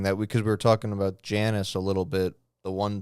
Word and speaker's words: Janus: Apparently, so it's Ianus, and back in the day, I and J were like interchangeable. So, but it was pronounced Janus. You know what I mean? Like, so the I is pronounced, so that's where you get the Eanus from, with the Janus getting an E, and then the E being pronounced differently over time. Yeah. Or the J just going to Janus. So that's where he gets that from.